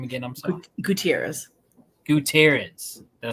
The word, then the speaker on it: Gutierrez: I say your last name again I'm sorry Gutierrez Gutierrez did I say it right or I